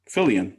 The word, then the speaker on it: Fillion: Fillion.